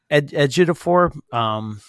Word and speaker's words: Ejiofor: HBO Max, and also on HBO Max, Lockdown with Anne Hathaway and I don't want to mispronounce it. Ejiofor.